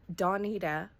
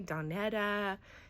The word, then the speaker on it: Donita: space for that I I've had people call me donetta Dona uh all kind you know pronounce my name all kinds of different ways for a long time